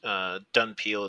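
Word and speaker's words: dhampir: I think he's called Dumpier. It can vary depending on the book, but Dunpeel is how they pronounced it in the Bloodlust movie.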